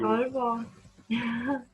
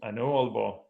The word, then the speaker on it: Aalborg: English speakers don't know that double A in Danish is pronounced.